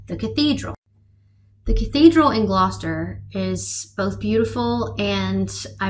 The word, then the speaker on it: Gloucester: It's not Glossister or Glossister. It is Gloucester.